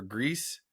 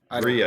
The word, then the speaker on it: Gris: Is it Gris or Grease? Gree, I think.